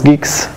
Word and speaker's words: Guix: Geeks so Geeks is a new thing it's pronounce Geeks like gu and not gu and geks okay